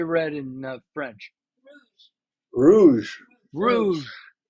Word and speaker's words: rouge: Rouge.